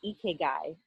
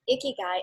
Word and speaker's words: ikigai: And one of the topics that you have touched on is Ikigai.